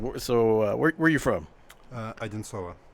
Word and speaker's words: Одинцово: Одинцово. It's about 2 hours. Say it slower. Одинцово.